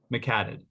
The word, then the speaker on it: McHaddad: pronounce your last name my family always pronounces it mcad mcattid okay yeah wait a